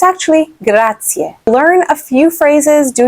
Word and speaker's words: grazie: they know how to say because they'll say grazie, but it's actually grazie. Learn a few phrases, do your best with the pronunciation.